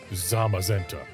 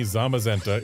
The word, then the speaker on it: Zamazenta: So they're the cyan, zashian, zashian, and the magenta. Z magenta. Zamazenta.